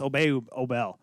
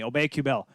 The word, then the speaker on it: Kubel: How about Nicholas Obel? Or is it, how do you say it again? Kubel. Excuse me, Kubel.